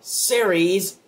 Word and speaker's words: Ceres: planet that is in the asteroid belt called Ceres, which that's actually how you pronounce it.